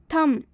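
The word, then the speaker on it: thumb: थम, बहुत सारे स्टूडेंट्स गलती करते हैं इसमें, इसे थम ना पढ़कर इसे थंब पढ़ते हैं, जो कि इसका बिल्कुल गलत उच्चारण होता है। इसमें एम के बाद से बी आया हुआ है, इसलिए इसमें बी साइलेंट होगा। तो हम थंब ना पढ़ के हम थम पढ़ेंगे।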